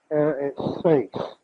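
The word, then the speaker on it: αἱρέσεις: Now, this is the Greek word H-A-I-R-E-S-E-I-S. And the accent on the E. Hereses.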